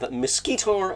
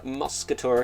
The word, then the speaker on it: Mosquitor: We have Mosquitor, or Muscator if you like me, and trying to piss somebody off by saying his name wrong.